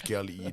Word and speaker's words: Kealii: They say my name sometimes, Kealii.